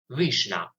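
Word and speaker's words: vişne: It's pronounced like this, vishna.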